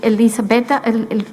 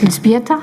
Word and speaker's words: Elżbieta: I will now give the floor to Elisabetta, I never know how to say it, Elżbieta, sorry, Mirga Wojtowicz.